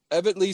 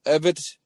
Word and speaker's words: Evetty: Evetty. No, there's no L. Evetty.